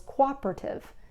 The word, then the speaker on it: cooperative: can't Pro pronounce um Cooperative which is not co co cooperate whatever she added a syllable it's Cooperative it's also restaurant so